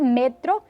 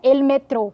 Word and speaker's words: metro: já diria Electro Electro a sílaba forte Deixa de ser a última como no português e passa-se a penúltima no espanhol por isso que a gente diz ele metro e não ele metrô como no português ele